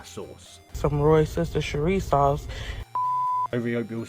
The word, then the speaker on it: Worcestershire: American trying to pronounce Worcestershire Sauce leaves Brits in hysteria. Worcestershire Sauce. Some Worcestershire Sauce.